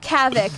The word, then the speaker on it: Kavic: See, I've always been confused about Kavic because I wasn't sure if you wanted it to rhyme with havoc. That was the point.